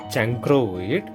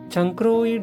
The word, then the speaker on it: chancroid: The term chancroid contains the pronunciation crow.